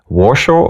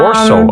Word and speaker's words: Warsaw: washer or Berlin um once again warshaw or Berlin oh Warsaw or bro or Warsaw I'm sorry I pronounced it wrong Warsaw or believe that's